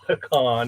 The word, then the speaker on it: pecan: I've kind of been going for the nutty ones, the pecan or pecan, is how you say it, Yeah.